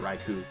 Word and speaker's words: Raikou: It's basically Rai from, like, the electric in Japanese, I think, and Cougar. So, like, it would make sense if you pronounce it Raikou.